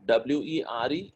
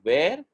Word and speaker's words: were: So always remember the pronunciation of W-E-R-E is not where, it is were. You need to bite your lower lip.